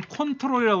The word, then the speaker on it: Ctrl: CTR이라고 있죠. 그건 컨트롤이라고 그래요. 컨트롤.